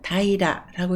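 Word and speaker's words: 平ら: 그리고 하나만 읽을 때는 다이라라고 읽고 평평함을 나타냅니다.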